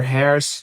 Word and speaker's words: hair's: Ele não pronuncia da maneira como a gente está vendo aqui. Your hair has changed. Ele fala simplesmente your hair's changed.